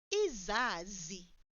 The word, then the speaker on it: izazi: Plural, izazi, izazi. Note how I pronounce that first Z or Z. Izazi. Did you hear that I pulled it?